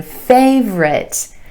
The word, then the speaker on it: favorite: above average number nine favorite favorite not favorite favorite again two syllables here with emphasis on the a sound in the first syllable